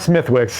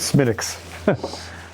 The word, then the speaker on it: Smithwick's: Yeah, Flagusko, sorry, it's not Smithwick's, it's Smithwick's.